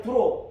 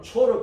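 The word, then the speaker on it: צור: 퇴일로 빨리 이제 두로 비슷하게 되잖아요. 그러니까 한글을 번역할 때 두로라고 번역을 해버려요. 중국 발음으로. 히브리어 원 발음은 초로 그대로 번역을 해야 되거든.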